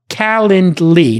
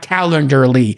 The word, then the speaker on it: Calendly: raising and is it wait it's pronounced calendly not calendar lee yeah talently yeah yeah